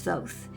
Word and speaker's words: Thoth: Now I know that most people pronounce his name Thoth, and that's not necessarily incorrect, but neither is Thoth, and Thoth seems to be what he wanted me to use from the beginning, so I continued to use it.